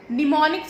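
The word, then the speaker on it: mnemonics: एन आई सी एस इसमें हम silent है निमोनिक्स इसको पढ़ा जाता है निमोनिक का मतलब होता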